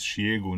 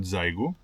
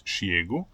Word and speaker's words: Xiegu: From this moment on, I'm going to refer to the company as Xiegu, not Xiegu, because I learned that this is the right way to pronounce the name of the brand, so it's Xiegu.